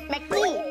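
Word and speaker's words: Maggi: 제대로 태국 발음 해주세요. 맥히. 아, 맥히 맞네요, 맥히.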